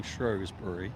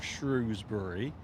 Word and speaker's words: Shrewsbury: And there is an interesting story surrounding Shrewsbury, or Shrewsbury.